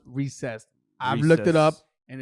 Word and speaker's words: Reese's: if you're out there listening you called it reese's i'm here to let you know it's pronounced recessed i've looked it up and it's from the